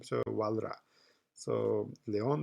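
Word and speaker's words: Walras: his name but it's French so they don't pronounce to last s in the end of this his name so WRA so Leon WRA is the the great Economist classical Economist in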